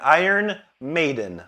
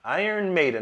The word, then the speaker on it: Iron Maiden: Iron Maiden. Iron Maiden. That's how you pronounce it, my friend.